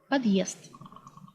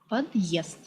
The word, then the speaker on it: подъезд: The heart sign indicates a slightly pause between syllables. For example, Russian word подъезд, подъезд.